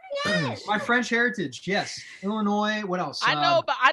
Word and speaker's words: Illinois: Illinois from Illinois yeah I love how Illinois is pronounced Illinois even though there's an S at the end of that word French well it's French